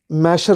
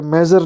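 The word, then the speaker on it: measure: ये मैशर होता है कि मेजर होता है, मेजर होता है? दोनों नहीं होते, गलत है। मैशर होता है, मैशर। ठीक है, आई एम not your English teacher but इट is called मैशर। ठीक है, मैशर होता है, मेजर नहीं होता। बहुत बच्चे से मेजर बोलते हैं।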